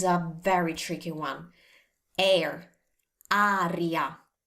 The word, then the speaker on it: aria: Aria. Now let's learn to pronounce this correctly thanks to the spelling. A, R, I, A. Aria. Can you hear the difference? It's not air, it's aria.